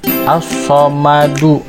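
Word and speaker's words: الصمد: Karena diwaqaf, maka As-Somadunya dibacanya jadi As-Somad, karena dia menjadi qalqalah kubro. Karena ketika ada huruf dal diwaqaf, maka dia harus dibacanya itu adalah disukun dengan mantul bacaannya. Huruf hijaiyah dalnya itu dibacanya mantul, As-Somad.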